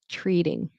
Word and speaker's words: treating: I don't say treating, I do a flap T, which is like a D, treating. How's work treating you? Oh, and also notice TR, I pronounce it as CH, with an R, treating.